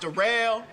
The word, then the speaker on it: Daryl: It's spelled like Daryl, but it's pronounced Darrell.